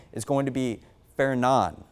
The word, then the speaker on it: Fernand: So the next name is going to be Fernan. So I know it says Fernand, and that's how it looks like it's pronounced, but the official pronunciation is going to be Fernan, and we'll have that on the web story.